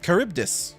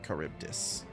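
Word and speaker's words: Charybdis: Caribdis. Okay, that seems to be the closest one. Or at least at least like in English, that's what we would say. Caribdis.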